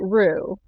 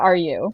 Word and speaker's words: Rue: oh are you rue you pronounce it rue not are you oh yeah wait how